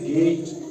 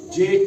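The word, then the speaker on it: gate: की निकलेगी ठीक है इसीलिए जी एटी को पढ़ा जाता है गेट जेट नहीं पढ़ा जाता है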